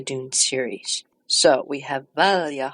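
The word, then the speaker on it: Valya: to give you recordings of how I would pronounce a certain family names in the Dune series. So we have Valja Harkonnen, we have Tuula Harkonnen, and we have Harro Harkonnen.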